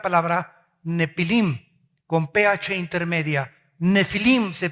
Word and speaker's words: Nefilim: Nefilim se pronuncia.